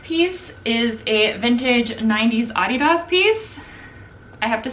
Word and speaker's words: Adidas: So it's named after him, Adi Dassler. So it's Adidas. America, however, has decided to make it its own and it says Adidas instead.